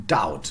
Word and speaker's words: doubt: doubt okay and then put the bur in without ever pronouncing it so uh it became doubt the bur it's always been silent and um yeah went